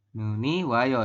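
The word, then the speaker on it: 눈이 와요: I wayo ya ini kan Nun I wayo nih benar enggak Nun I wayo seperti itu bukan ya salah ya kalau Nun iwayo salah Nun I wa Yo ini salah ya robun yang paling tepat adalah Nuni wayo seperti ini ya yang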